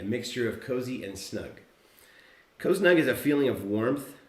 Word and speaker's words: coznug: kozni c-o-z-s-n-u-g a mixture of cozy and snug cosnug is a feeling of warmth comfort and safety